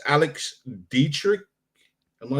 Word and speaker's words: Dietrich: Because we've got an interview that was conducted by Lieutenant Commander Alex, and I might say her name wrong, but it's Alex Dietrich.